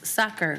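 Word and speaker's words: Sachar: and holes by Lewis soccer rhymes with cracker I had to look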